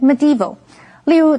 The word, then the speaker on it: medieval: Alright，继续我们看的是 medieval 这个形容词，M-E-D-I 这个字根有中间的意思，所以 medieval 是指中世纪的。注意它的重音是在第二音节念成 medieval。例如，The background of the movie was set in